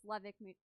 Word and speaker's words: Levitt: Yeah, and it's Levick Music Series grant.